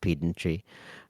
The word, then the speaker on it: pedantry: But since I'm a pedant, I'm going to say actually it's pronounced pedantry.